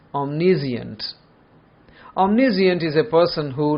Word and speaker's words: omniscient: It means to know, but the pronunciation is omniscient.